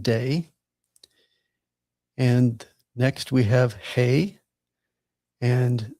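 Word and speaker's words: הא: And next we have hey. And this is like the English letter letter H as in hey G.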